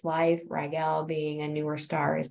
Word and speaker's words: Rigel: It also has, I call it Rigel, some people pronounce it Rigel, but Rigel, it is a newer star.